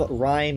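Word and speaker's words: Rime: They call them Rhyme Gales. Uh spelled like rhyme. R I M E.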